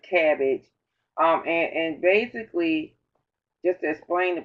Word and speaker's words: CABG: with this in color can we call it cabbage cabg so that's the afternoon we we pronounce it cabbage and basically just explain